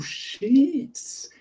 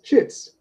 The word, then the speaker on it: sheets: Oh, sheets. You mean sheets. Yes, shits.